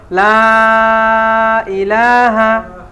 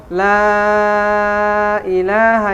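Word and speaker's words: لا إله: ঠিক আছে না সহি শুদ্ধ হবে লা ইলাহা উচ্চারণটা হবে এরকম হ্যা লা ইলাহা এখানে তিন আলিফ টান আছে তো এই যে লা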